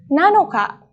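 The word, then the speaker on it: なのか: Tanggal 7, nanoka.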